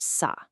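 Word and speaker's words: 사: In the Korean language, the number four is pronounced sa. But, unfortunately, the Sino-Korean word for death is also pronounced sa.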